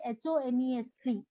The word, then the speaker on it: honest: यहाँ पर भी देखिए, ये जो स्पेलिंग लिखी है हमने HONEST, honest, the spelling starts with English consonant। यहाँ पर ये H जो है इंग्लिश का कॉन्सोनेंट, पर ये एक साइलेंट वर्ड है।